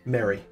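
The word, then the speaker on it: Merry: Mary. M-E-R-R-Y. Oh, Mary. Yeah, Okay. like the Hobbit.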